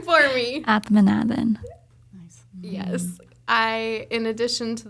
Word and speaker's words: Athmanathan: Athmanathan.